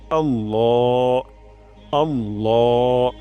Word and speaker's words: আল্লাহ: তান দিতে হবে এবং ল উচ্চারণ করতে হবে লা উচ্চারণ করা যাবে না আল্লাহ আল্লাহ রয়াল বলা যাবে না বলতে হবে আল্লাহ আল্লাহ তারপর হু আল্লাহু এখানে